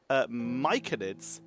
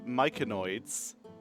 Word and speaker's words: myconid: Quite a few mushrooms that had been sitting in the areas, which I have been effectively told are pronounced myconids, not myconoids.